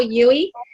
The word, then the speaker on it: Huey: to introduce him and his name is Michael Yui and that's Hughie with an H I have a way of pronouncing it wrong sometimes but anyway it's been